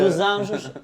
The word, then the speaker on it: Dos Anjos: Dos Anjos en portugais. On n'était pas d'accord sur la prononciation, donc c'est pour ça.